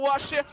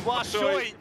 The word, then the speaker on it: Washoi: Finds the kill anyway until Washia. Oh, I can't even remember how to say his name. Oh, no. I'm going to take over from here on out. It is Washoi.